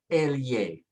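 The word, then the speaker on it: elle: It's pronounced like a Y. And so when we put it together, it sounds like an A-L-Y sound. So you say Elye, Elye, Elye.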